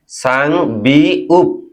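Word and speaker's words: 쌍비읍: হবে দুটি বিয় বিউ তাহলে এটির উচ্চারণ কি হবে সাং বিউ সাংবিউপ তাহলে আমরা আরো একটি শব্দ শিখে ফেললাম।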